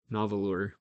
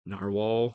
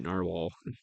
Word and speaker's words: Nahvalur: well and I've I've definitely become addicted to novel or now it they do say You're supposed to still pronounce it in our wall but it's very difficult for me to look